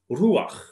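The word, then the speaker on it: רוח: is in the concordance, and it's pronounced ruach.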